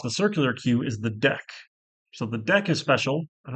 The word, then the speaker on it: deque: circular queue, is the deck. So the deck is special. I don't know why they pronounce it. It looks like DQ, but it's deck here.